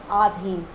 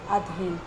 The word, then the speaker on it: अधीन: हम कहते हैं अधीन नहीं बोल के आधीन, जबकि वर्ड क्या होता है, अधीन।